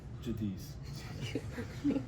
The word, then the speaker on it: Giudice: So I say Jadis is the correct way to say it. But when people ask the Italian way, it's judich. But just for simpler terms, Jadis.